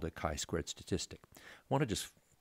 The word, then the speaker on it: chi-squared: It uses the Greek letter chi, and it's pronounced chi-squared.